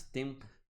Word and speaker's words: tempo: Tempo, ó, tem, sai pelo nariz. Tempo, ok? Mas não produz som, ele só nasaliza.